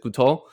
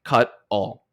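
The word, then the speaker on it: Kutol: And I was I in the entire outline I I in my mind pronounced it cout until the very end when I saw that it was pronounced like cut all.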